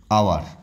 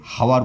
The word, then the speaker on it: hour: Silent word মানে কিছু কিছু শব্দ আছে যেগুলো সাধারণত এইচের উচ্চারণটা হয় না। যেমন আওয়ার, HOUR, আওয়ার, আমরা কখনই একে হাওয়ার বলবো না।